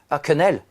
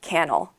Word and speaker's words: quenelle: Quinnel. Canel. Canel. Oh, this one is difficult to pronounce. Yes. Yeah. Everyone thinks I'm saying canel.